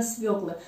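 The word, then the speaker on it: свёкла: посмотрела, как же пишется, на какую же букву падает ударение в слове «свекла». Конечно же, всегда произношу именно «свекла», но вдруг появился вопрос, а ведь возможно, что я ошибаюсь. Посмотрела и правильно, на «ё».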